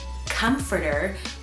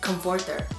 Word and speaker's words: comforter: So I thought what you guys refer to as comforter was pronounced comforter.